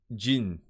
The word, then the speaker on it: 人: Okay, so Jin.